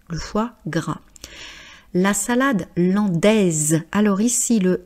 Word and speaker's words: landaise: Mais comme la salade c'est féminin singulier, l'andaise et le S de produit le son Z.